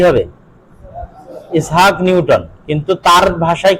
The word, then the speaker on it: ইসহাক: পার্থক্য আছে ঠিক আছে নামের উচ্চারণ আরবি এবং ইংরেজিতে পার্থক্য আছে যেমন ইসহাকে আমরা বলছি ইসহাক তারা বলছে আইজ্যাক কি বলে ওই যে